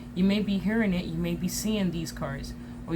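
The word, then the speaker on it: Maat: is ironically 888 okay may pronounced mayat is an ancient Egyptian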